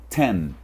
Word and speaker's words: ten: A próxima não é tem. Olha aí que eu escrevi. Não é tem. Oh, beleza? Não é tem. É ten. Ten.